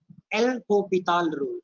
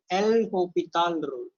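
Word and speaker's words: L'Hôpital: This spelling will be hospital, but this this S is silent. S is silent. L hospital rule.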